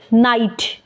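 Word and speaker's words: knight: silent है इसी तरह है नाइट के इसमें भी साइलेंट है इस तरह नोब नोब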